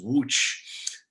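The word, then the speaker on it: Łódź: times when i'm in wooch which is spelled l-o-d-z but in polish it's pronounced wooch so he died on tour there and whenever i'm in wooch i bury i i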